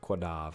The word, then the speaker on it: Quadav: It's, I like to pronounce the qua part of quadav, like the first part of croissant.